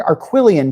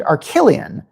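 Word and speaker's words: Arquillian: used the word they used the word arquilian to describe an alien race and in the movie they pronounced it archillion and I kept like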